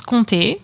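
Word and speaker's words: Comté: back to france uh this is conte so let's be careful how we say it because i hear a love c word when i say it again and it's spelled like c-o-m-t-e with a little accent at the end uh and this is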